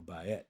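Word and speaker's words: בית: And next is Bet, or Bayet, as some pronounce it, and then Gimel, and then following that will be the fourth letter, which is Daleth.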